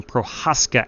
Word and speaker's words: Prochaska: That is Harrison Prochaska, actually. The C is silent, I'm told.